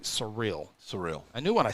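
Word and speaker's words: Cyril: Surreal is the pronunciation. So C-Y-R-I-L, but it sounds like surreal.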